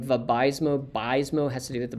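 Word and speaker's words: Vabysmo: powerful um for aab is bispecific the name VMO bismo has to do with the bispecific that's how they like you to pronounce it binds an2 and vfa probably should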